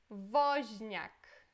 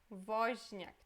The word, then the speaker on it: Woźniak: Depois temos aqui Woźniak. Woźniak.